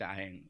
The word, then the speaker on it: iron: For example, iron, whether you call it as iron or iron, we call it iron. Okay, R is silent, right?